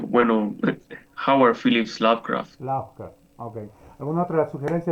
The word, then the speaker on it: Lovecraft: Yo lo pronuncio, bueno, Howard Phillips Lovecraft.